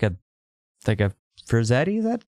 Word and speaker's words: Frazetta: it's just like, because the cover's like a Frazetta, is that how do you say Frazetta? Frazetta, yeah.